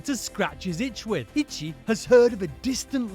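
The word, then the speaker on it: 一: 100 yaku in Japanese the Japanese for one is itchy itchy sounds like the word itchy whoa that's all of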